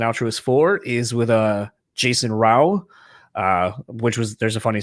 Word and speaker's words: Rao: for is with Jason Rao, which was, there's a funny story when you hear that, where he's like, oh, it's like cow with an R.